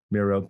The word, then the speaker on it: Mierau: Super fan John Mero. Well, did I pronounce that right? I did. Mero.